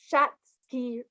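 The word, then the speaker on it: Schatzki: have this thing called and it's hard to pronounce but it's shatsky ring ring so s-c-h-a-t-z-k-i for anyone who's interested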